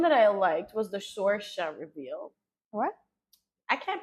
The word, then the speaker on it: Sorsha: Then the next one that I liked was the Sorsha reveal. What? I can't pronounce that girl name.